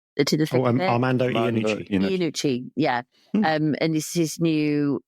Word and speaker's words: Armando Iannucci: It's the new I never pronounce his name right. Amanda Dinici. Armando Iannucci, yeah.